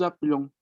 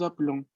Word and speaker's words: appelons: Yo digo, nous appelons, nous appelons. La E casi no se escucha, es como si yo pasara de la P a la L directamente, porque ese es el fenómeno de pronunciación.